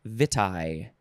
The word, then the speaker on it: vitae: cardiovascular and two curriculum vitae and uh vita i think that's how you pronounce it v-i-t-a-e and uh i